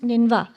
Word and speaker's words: Nineveh: In the Assyrian civilization, it is actually, you can see it's spelled as Nineveh, but it's pronounced Ninva.